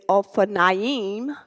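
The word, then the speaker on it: אופניים: So now you can say O, Fa, Na, Ying.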